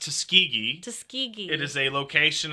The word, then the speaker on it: Tuskegee: no come on what's tusi what's Tusk it's pronounced Tuskegee Tuskegee it is a location in the United